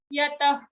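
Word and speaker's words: यतः: Yatah, again a fa like visarga, not exactly fa, but a lighter fa.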